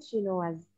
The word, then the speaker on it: chinois: Bacanya chinoise ya, jadi ada S-nya karena di belakangnya itu ada huruf vokalnya E. Tapi kalau nggak ada huruf E di belakang dibacanya itu chinois.